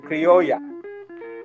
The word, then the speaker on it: criolla: In Spanish, the word is pronounced criollo or criolla.